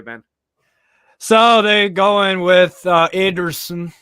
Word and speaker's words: Ederson: So they're going with Ederson. That's a Brazilian Portuguese way to say it. That's why it's Ederson, not Ederson.